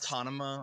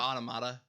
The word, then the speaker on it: automata: Yeah, and he said He near does, autonoma or something instead of yeah, automata.